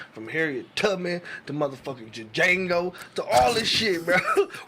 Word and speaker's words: Django: They see the shit in movies, from Harriet Tubman to motherfucking Django to all this shit, bro. Roots. Django, we see this shit, bro. The D is silent, nigga. The Django, motherfucker.